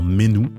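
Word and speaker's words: Sainte-Menehould: meneou alors 4200 amérant qu'on pronce d'ailleurs Menou alors pourquoi avoir mis autant de lettres dans un nom pour prononcer Menou bref qui est au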